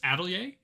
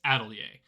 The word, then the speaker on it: Atelier: So the first list we're going to talk about is Atelier. And yes, that is the correct pronunciation of that word. I Googled it and it's Atelier.